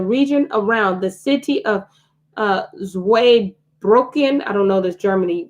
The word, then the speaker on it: Zweibrücken: The founder under the French umbrella, they were largely recruited from Zweibrücken, Germany.